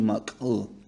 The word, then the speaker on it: mak'u: The next one is exploded K with the K with the dot underneath it, and it sounds like a k, k, k, k, like ooh, ooh, mak ooh. Chandi waji mak'u.